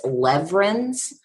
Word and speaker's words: Lewerenz: your last name correctly well actually the W is pronounced a V now why it's not actually a V I'm not sure so it's lever ins but yeah it's one